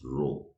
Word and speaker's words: rho: is the greek alphabet greek alphabet rho you pronounce it as rho now see i take a matrix i find